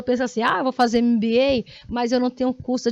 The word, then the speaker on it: MBA: Ah, professora, eu chamava ela de MBA, já vi no outdoor, MBA não sei o quê. É MBA, mas a pronúncia é em inglês, MBA, e significa realmente em inglês, né?